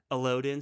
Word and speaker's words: Elodin: and when he's with Quoth and Ari, and it's how do you pronounce it again? Say it one more time for me. Elodin? Elodin.